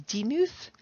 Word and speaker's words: Demuth: look at is charles demuth though i've heard that he called himself um his last name with the accent on the first syllable like charles demuth and so they called him deem he was from a